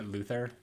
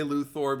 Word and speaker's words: Luthor: You know Luther? It's I like to say Luthor because it's the O.